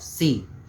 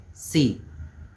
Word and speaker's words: sí: You say C, how we say A, B, C, it's the exact pronunciation of C. We write it as S-I, C. Just be careful about the tilde when you write the C.